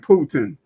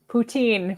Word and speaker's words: poutine: some of the different types of food like putin did i say it right poutine but yes putin's the eye you know well